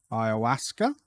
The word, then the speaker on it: ayahuasca: word ayahaska I Alaska Ayahuasca ayahuasca retreat pronounce um just unmute that um I've been saying it right it's ayahuasca so um yeah a bit